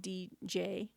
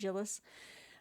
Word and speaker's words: Djilas: That's spelled Djilas, so Djilas, or I think the D is silent, Djilas, into his works, The